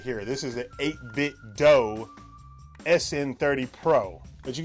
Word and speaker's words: 8BitDo: how do you pronounce 8-bit doe i'm pretty sure it rhymes with nintendo because that's what they model their controllers after nintendo controllers 8-bit doe nintendo i digress and